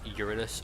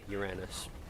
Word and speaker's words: Uranus: Honestly, the boss Uranus, or if you want to pronounce it the funny way, Uranus, in the Lilith DLC, the Fight Sanctuary DLC, he keeps dropping me.